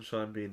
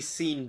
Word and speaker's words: Sean: Rhymes oh yeah because his name should be seen Bean the way that it's spelled but because it doesn't rhyme God or something Smite